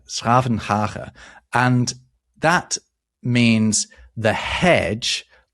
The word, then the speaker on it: 's-Gravenhage: I'm going to really struggle to pronounce this, but I'm going to have a go. It used to be called Schravenhage, right? Schravenhage.